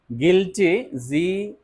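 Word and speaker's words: guilty: Dier Admire okay Admire গিলটি ইউ আই এলটি ওয়াই গিলটি you silent গিলটি গিলটি গিলটি okay ক্স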